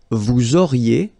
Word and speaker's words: vous auriez: Vous auriez, little link between the two, vous auriez, and then ils auraient,